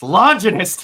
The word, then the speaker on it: Longinus: It's Longinus, damn it.